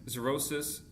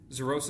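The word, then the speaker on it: xerosis: Cenyl perpa decrease in sweat glands heat stroke decrease in sebaceous glands zerosis cutus zorosis is spelled x e r o s i s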